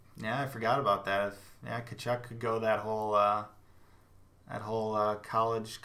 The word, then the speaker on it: Tkachuk: It's got that silent letter, just kind of fancy like that, but it's got that Tkachuk.